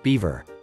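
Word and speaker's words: Biewer: Bure Terrier. If you originally had a Yorkie in mind, consider its younger cousin instead. The Bure, pronounced Beaver.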